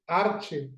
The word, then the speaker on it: arche: Ahí la palabra griega en el original es una palabra que se escribe arche, A-R-C-H-E, y como una especie de acento en la E.